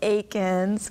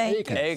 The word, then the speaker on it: Eakins: Because we have the wonderful Eakins, and Eakins. Okay. You pronounce it correctly. Not Eakin, but Eakins.